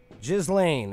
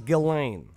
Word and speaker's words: Ghislaine: it but it is galane galane okay so the S is silent so is the age